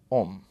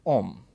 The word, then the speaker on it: homme: So, the first word that we have to note here is a word homme, right? [Note the spelling it has, an h which is silent] Now, in French the word homme means man.